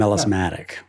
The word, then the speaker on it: melismatic: melismatic, right? Is that how Yes, you pronounce melismatic.